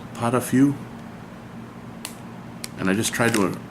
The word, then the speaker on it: pot-au-feu: It's pronounced potafu. Potafu. It's a French beef stew.